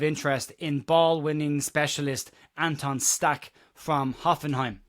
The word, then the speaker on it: Stach: in ballwinning specialist Anton Stack from Hoffenheim. I am going to pronounce it stack just to remove the amount of flem that's involved in pronouncing it his name in in German but Stack is as